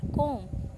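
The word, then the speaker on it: comb: फिर कॉम, तो बी।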